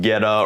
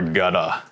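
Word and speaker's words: goetta: um and it's pronounced ghetto or gutta it's not pronounced in any sort of german way it is ghetto or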